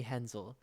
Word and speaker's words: Hensel: the german composer fanny hensel who's that it rhymes with moon that is true fanny